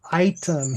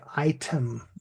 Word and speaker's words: item: So, the word item here is the the long I item.